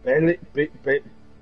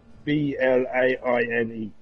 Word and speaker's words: Blaine: Bellin, B-L-A-I-N-E. Spell that again.